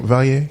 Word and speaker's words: Vallier: Am I pronouncing your last name Vallier? Yeah, it's Vallier.